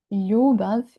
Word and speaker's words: ljubav: Ljubav is a beautiful Serbian word, but not many foreigners share my opinion.